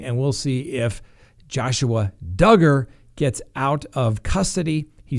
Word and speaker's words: Duggar: the pronunciation for joshua duggar rhymes with hugger before i pronounced it dugar who knew anyway you